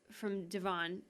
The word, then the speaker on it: Devon: I think, am I pronouncing his name correctly? Devon, yeah.